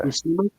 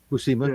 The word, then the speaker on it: Buscema: Buscema? All right. Buscema, yeah. We can pronounce it however we want.